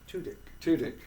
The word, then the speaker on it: Tudyk: and it stars Alan Tudyk, and I always mispronounce his name. Tudyk.